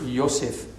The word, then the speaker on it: Yosef: Now, add in Hebrew is the Hebrew word Yosef, Joseph.